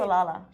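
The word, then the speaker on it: Salalah: don't you just don't live your life in salala exactly why am I saying it salala I think you said it right salala salala don't live your life in a on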